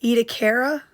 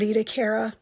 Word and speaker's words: Ediacara: were discovered in Australia's, I say it Ediacara, but the video said it a little bit differently. I don't remember exactly how they pronounced it, but I would say this word Ediacara.